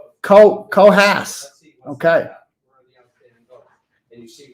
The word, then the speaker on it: Coos: Coos County is pronounced Cohas.